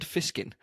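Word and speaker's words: Fishkin: name reminded you of Rand fiskin because it rhymes with snake pliskin who was uh Kurt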